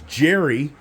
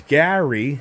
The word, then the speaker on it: Gary: And a lot of people think my name is Jerry because it's Gary.